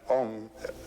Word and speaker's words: Om: written a u m you start the back of the mouth ah and then ooh you fill the mouth and M closes at the mouth and when you pronounced